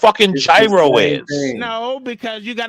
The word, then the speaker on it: gyro: __ ] is shawarma it is pronounced gyro you Savages thank you thank you